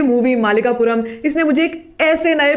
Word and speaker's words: मालिकापुरम: पहली बात तो ये कि मुझे इसका पहले प्रोनाउंसिएशन ही नहीं आता था, मैं इसको मल्लिकापुरम बोलती थी, लेकिन the real pronunciation is मालिकापुरम, which means something.